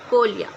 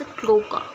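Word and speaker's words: cloaca: वहां से इससोफेगस में फिर स्टमक फिर इंटेस्टाइन देन रेक्टम और फिर कोलिया। अब ये कोलिया ये जो है ये कॉमन ओपनिंग होती है। For sorry it's क्लोका। ठीक है? क्लोका है ये।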